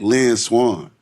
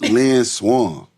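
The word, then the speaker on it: Lynn Swann: You got to say you got to say like Lyn Swan. Yikes. You can't pronounce Lan Swan.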